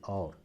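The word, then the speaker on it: और: ഇതിന്റെ ഉച്ചാരണത്തിൽ ചെറിയ വ്യത്യാസമുണ്ട് ഔ എന്നല്ല ഓ എന്നാണ് ഹിന്ദിക്കാർ പറയുക ഔരത്ത് ഓജാർ എന്നൊക്കെയാണ് പറയുക ഓർ ആൻഡ് എന്നുള്ള അർത്ഥത്തിൽ ഓർ ഔർ അല്ല ഓർ ഔരത്ത് അല്ല ഔരത്ത് അങ്ങനെ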